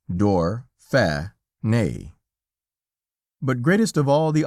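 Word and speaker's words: Dauphiné: France for us calling it door funny and pronounced door fair nay but greatest of all the honors shown us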